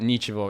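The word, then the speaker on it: ничего: which is like because the G in Russian and it's in the middle of the word, it's like pronounced soft like a V.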